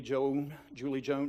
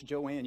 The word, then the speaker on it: Joanne: do the first day, they call out the name Julie Joan. No, it's Joanne. You always have to correct because they've intentionally passed down this name that's spelled a little bit differently.